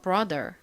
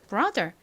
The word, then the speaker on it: brother: 관건인데요 사실는 정확히는이 단어에서 어에 가깝게 소리가나요 그래서 brother 이렇게 RO 소리가 나는데 한국식으로이 단어를 표기할 때는 어로 표기하지 않고 아로 표기를 합니다 보통더라고 하죠 사실러 발음이나라 발음이나 뭐 큰 차이는 아니어서요 그냥 brother 이렇게 발음을 해 주셔도 괜찮습니다 자 발음해 볼까요